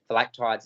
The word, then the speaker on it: Phylactides: Phylactides is the way we're going to pronounce it until we're told otherwise. I've heard varying pronunciations, but been told to go with that.